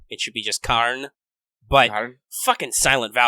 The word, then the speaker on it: Karna: dominant dialect in Indian the trailing a is is silent so you don't say at the end of karna it should be just carne by her silent vowels dude